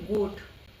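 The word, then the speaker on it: goat: ग और ज ग साउंड देखिए इसमें है गोट और दूसरा है ज साउंड जी के बाद ओ है यहां पे इसको गोट प्रोनाउंस करेंगे और जी के बाद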